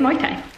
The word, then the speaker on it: Muay Thai: an hour of cocktail meeting and it's actually pronounced my time we're just on the hunt for dinner tonight